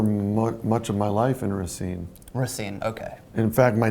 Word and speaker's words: Racine: Your pronunciation is pretty bad, but Racine. The funny thing about that is I lived for much of my life in Racine.